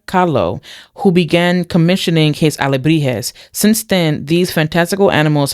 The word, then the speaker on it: alebrijes: I believe that's how you pronounce it. Oh, alebrijes.